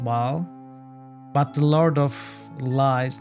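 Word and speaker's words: Bhaal: whereas this is pronounced ball so the Lord of murder in um Baldur's Gate is pronounced ball but the Lord of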